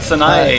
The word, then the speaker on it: Sanae: It's three syllables.